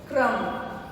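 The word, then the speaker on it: crumb: Next है क्रम। अब बी जो है इसमें साइलेंट है, इसको बोला कैसे जाएगा? क्रम। बी साइलेंट है इसमें।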